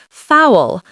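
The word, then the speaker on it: foul: Fowl like towel but starting with an F and keep it one syllable.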